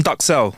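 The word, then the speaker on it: duxelles: Um, it's called mushroom ductel. That's how you say it. It looks like dell in French, but it's actually called mushroom ductel.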